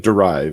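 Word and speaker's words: dérive: use a concept called derive, right? And this is that. Can you say it again, because I didn't catch it? It looks like derive. Pronounce it with a bad French accent the way I do.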